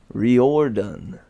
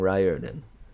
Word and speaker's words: Riordan: looks nothing like that it is Rio erden riordon again I say why Ry when you can